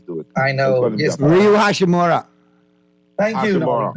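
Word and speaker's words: Rui Hachimura: You got a solid front line with Bryant, AD, and I can never pronounce my Japanese to it. I know. Yes. Ryu Hashimura.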